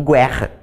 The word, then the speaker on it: guerra: quando não foi pronunciado é o caso de guerra por exemplo eu digo guerra agora eu digo urugai eu digo uruguai então aí não é ele vai ser pronunciado a formando triton tá eo